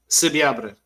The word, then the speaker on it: Subiabre: Subiabre. Manny, I'm going to have to learn that one if this guy signs. Subiabre.